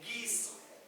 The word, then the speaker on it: guiso: Gui como en guiso.